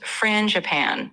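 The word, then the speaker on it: frangipane: It's pronounced franapan. So kind of like fran.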